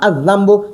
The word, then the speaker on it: الذنب: ټیک شوه ځکه چې دا ذال دا حرف شمسی دی د حرف شمسی نه مخکې چې لام ولګي نو په تلفظ کې بیا نه ویل کېږي نو موږ به وایو الذنب دا اوس معرفه شو معنا یې دا ګناه.